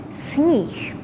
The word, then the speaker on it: sníh: Also remember, when you say sníh, it's spelled with H, but here we pronounce it as H. Sníh. However, once you add any other vowel after it, it would go back to H.